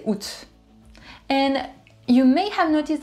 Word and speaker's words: août: Just say août. And you may have noticed that I changed the pronunciation for juin.